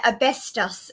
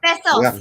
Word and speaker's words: besos: I would just give all of you guys an asbestos if I could. Did I do it right? Did I say it right, Polly? Almost besos. Almost besos, yeah. Besos, yes. Yeah, asbestos is something else.